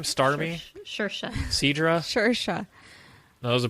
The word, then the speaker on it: Saoirse: Shersha.